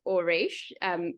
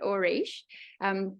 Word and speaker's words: Auriche: how you pronounce it, Auriche. Gives you the idea of the gold, which is where ore comes from.